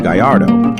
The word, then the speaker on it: Gallardo: body size with this goal the Gallardo Spanish pronunciation Gallardo was unveiled in 2003.